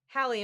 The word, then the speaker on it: Hallie: it's Hallie from Montana Hallie am i pronouncing your name correctly you are thank you great how